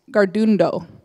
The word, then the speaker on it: Tkarón:to: they'll correct me later but you spell you pronounce it Gard Indo so the T's and the Khazar much differently